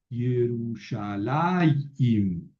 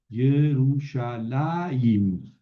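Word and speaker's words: ירושלים: Yerushalayim, Yerushalayim. Bueno, aquí se pone la yod, la jirek, debajo de la mem, pero se pronuncia antes. Yerushalayim, Jerusalén o Jerusalén.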